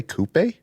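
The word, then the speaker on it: coupé: of what's going on did you say kupe that's how that's how they say it in the uk oh okay you see the accent see the accent over the e no i hear you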